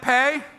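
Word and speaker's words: פ: next one see that pay that's how you say the word pay like pay me that letter is pay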